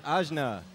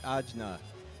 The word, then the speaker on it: Ajna: It's Ajna, not Ajna.